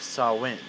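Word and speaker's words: Samhain: the gaelic celebration of sawing which is not spelled how it's pronounced because it's gaelic and yeah so they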